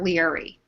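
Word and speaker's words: Laoghaire: We're going to call her Leary.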